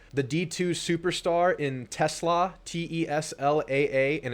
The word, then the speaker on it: TeSlaa: The D2 superstar in Tesla, Teslaa, and it's pronounced Tesla, not Tesla. Apparently that's how it goes.